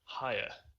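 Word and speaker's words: Heyer: I'm told apparently it's higher. Yeah, I thought it was. Not hair. Apparently, that's people say it wrong.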